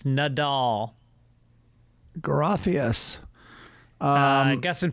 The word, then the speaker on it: Nadal: fluent in spanish also nadal's name is pronounced nadal not nadal huh it's nadal not nadal no bells in spanish are consistent not like english where the sound can change in the same word okay yeah i also